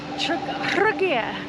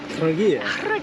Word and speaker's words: Trogir: We've just rocked up at a place called Trogir. Trogir, and I know that's the case because I looked at it on Google how to pronounce it.